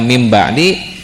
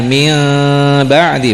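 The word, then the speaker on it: مِن بَعْدِ: Nah, ketika mim ba'di jangan min ba'di bukan ya. Daripada mim ba'di mikirnya mim ba'di aja gitu ya. Mending rapat aja. Kalau dipaksakan enggak rapat tapi bunyinya jadi ming gitu.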